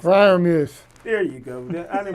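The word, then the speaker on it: Freiermuth: I can't pronounce it. Fryermuth.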